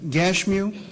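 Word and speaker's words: Geshem: that sand ballot and gersam now some people pronounce that gashu you'll find he is the same person in verse 6 when we come to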